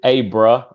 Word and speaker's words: Abra: for me it's it's a bra long a yes like abraham but no ham just abra ah okay so there's